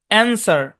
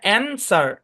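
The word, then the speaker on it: answer: আচ্ছা তারপর দেখেন আরো কিছু শব্দে ডাব্লিউ সাইলেন্ট থাকে, যেমন অ্যান্সার, হ্যাঁ অ্যান্সার, সর্ট টু, এই শব্দগুলোতে ডাব্লিউ সাইলেন্ট, মনে রাখতে হবে।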